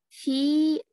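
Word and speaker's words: في: to know that the word fi has long kasra, but when it is followed by al, the kasra is shortened. Like here, we have here, let me show you. Fi. Fi baytin, we are pronouncing long kasra. Here, there's a noun which has alif lam, so fil bayti, it's shortened.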